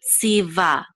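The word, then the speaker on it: צִוָּה: With this kamatz, which says ah, and the hey together, we'll say va. So tziva, that commanded tziva asher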